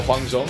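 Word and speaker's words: Huang Zhong: Champion to the server which which is uh hang Jong I believe that's how you say his name yep it is hang xong he's is a one of the furthest ranged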